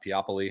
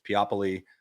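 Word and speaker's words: Peopoly: is a p uh piopoly I always say it wrong it looks like people but it's piapoli um L which is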